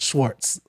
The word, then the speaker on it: Schwarz: t so it's just it's said with a t so it is said with the t but it's spelled with a z so it's uh spelled schwarz but it's uh pronounced schwartz so that's why i